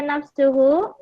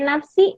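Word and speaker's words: نفسه: zir begitu ya nafsuhu Kenapa dibaca nafsuhu karena dia tahu Dar yang tadi maka betul dibacanya harus nafsu enggak boleh Nafsi enggak boleh nafsa ya siap sudah jadi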